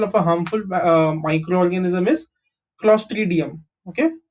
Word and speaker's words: Clostridium: Okay, an example of a harmful microorganism is Clostridium. Okay, how do you pronounce this? CLO is CLOS is clos, TRI is tree, DI is D, UM is Clostridium.